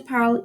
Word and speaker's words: parlent: Je parle, tu parles, il, elle, on, qui parle. Nous parlons, vous parlez, il et elle parlent. Remember, here you don't pronounce the ENT because if you do,